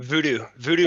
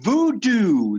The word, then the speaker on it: VUDU: VUDU Marketing. Oh, VUDU. It's spelled differently. Cool. Yeah, VOODOO was taken, so I went with that.